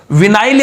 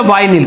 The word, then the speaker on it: विनाइल: तो देखो यहां पर पॉली को हटा दो, इसका मतलब ये विनाइल या वाइनिल, कई जगह वाइनिल भी लिखा हुआ है, वाइनिल। तो ये उच्चारण का फर्क है, आप दोनों याद रखें।